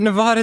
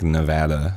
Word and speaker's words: Nevada: like, no, I mean, if you were pronouncing it like in a Spanish way, it would be like Nevada.